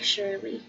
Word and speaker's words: Surely: it would be it's spelled like surely as in surely you just but it's pronounced like shirley he was the sweetest